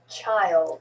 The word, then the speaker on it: child: find find time time child child really two syllables there because we just put a y and a schwa in there child child child child